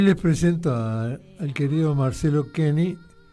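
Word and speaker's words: Koenig: Buenas tardes, mi nombre es Martín García entrrables y hoy les presento al querido Marcelo Kenny, apellido alemán que se escribe Coenig, profesor universitario, exdiputado nacional.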